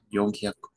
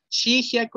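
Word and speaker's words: 四百: 400 es regular, o sea que sería Yonhyaku. Yonhyaku, hi. También Shihyaku existe, pero es más común con Yon. Yonhyaku. Pero pueden decir Shihyaku. 500.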